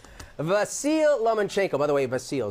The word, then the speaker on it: Vasyl: Dude, Vasil Lanchchenko, by the way, Vasil is the way you pronounce it.